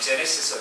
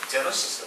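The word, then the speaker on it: Genesis: 제너시스 그랬죠. 제네시스. 영국식 발음, 브리티시 악센트라면 제네시스가 되겠지만 미국 사람 제너시스로 발음하는 것 같아요.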